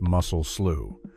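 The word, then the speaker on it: Mussel Slough: This is the story of the muscle slow tragedy, pronounced muscle slew, which took place in California's Sanwaqin Valley in May of 1,880.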